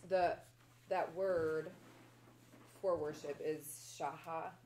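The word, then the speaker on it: שחה: And that word for worship is shaha. It's S-A-C-H-A-H. It's pronounced shaha or something similar to that.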